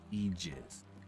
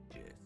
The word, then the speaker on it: aegis: One of my other fun ones I enjoy with aegis or aegis. It is a type of shield, often in Zeus wielded, and the fun thing about it is that both of the pronunciations are correct.